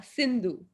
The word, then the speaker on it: Sindhu: I hope I have pronounced it right, Miss Sidhu. Yeah, Sindhu. Sindhu, sorry.